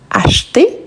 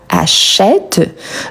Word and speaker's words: acheté: Donc ici, attention à la prononciation acheter et pas achète. Donc comme il ne s'agit pas de achète au présent, on peut éliminer la option E sans action.